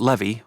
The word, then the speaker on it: Levi: "Well, you say it Levy, like Chevy, but yes.